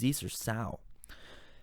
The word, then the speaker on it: Zeesersow: One that was repeated far more than the others was the word Zeesersow, and it rhymes with Zeeserwow, not Zeeserbow. Okay, so it's Zeesersow.